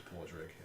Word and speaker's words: Pordrig: Niall Pordrig. You know the Dagger Isle pronunciations and spellings are very different. Yeah. So in the Crozian tongue it's Pordrig. The way of actually spelling it is like Padraig.